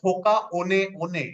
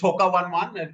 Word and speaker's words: Hoka One One: because it is a mai word it is pronounced as Hoka on on okay it's pronounced as h i mean it's